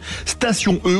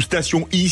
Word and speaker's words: Station-e: Station E ou Station I, si on prononce à l'anglaise, y répond avec le